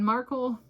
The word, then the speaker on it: Markle: Uh I have read about King Charles, Meghan Markle, rhymes with sparkle, and Kate Middleton, each a biography.